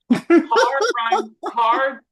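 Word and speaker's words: Kerr: Carr rhymes with star.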